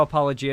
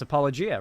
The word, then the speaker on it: apologia: This is how apologia is actually pronounced. Google it. I mean, that is how it's pronounced. Apologia, right? Yeah. Apologia? I mean, apparently both are. Huh. I only care about drama, I'll be real. Apparently both are correct, so.